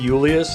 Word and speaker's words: Julius: Every time I say Julius instead of Julius, I kind of feel like an S, but that's how they pronounce it in game.